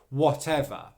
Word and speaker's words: whatever: schwa sound and unstressed whatever the final syllable is just the schwa sound er which means it should be very quiet very short very relaxed however because of the